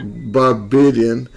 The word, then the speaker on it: Barbadian: Barbadian, like Canadian, Barbadian.